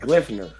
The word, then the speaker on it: Gleipnir: This last one I had on my list because it's spelled GLEIPNIR. So it's like Glyphner.